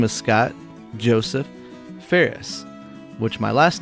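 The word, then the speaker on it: Phares: My birth name is Scott Joseph Ferris, which my last name is spelled P-H-A-R-E-S. Commonly mispronounced as Frays, Fars, Pijeres, and all sorts of different things.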